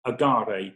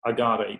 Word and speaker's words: Agaré: And so we've adopted the name for our brand of Agaré, which is A-G-A-R-E, with an acute accent on the E.